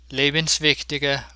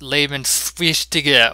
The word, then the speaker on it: Lebenswichtige: lebenswichtige Reaktion. The S belongs with the first part of the word, not the second. It's not pronounced lebenswichtige or some such, but rather lebenswichtige.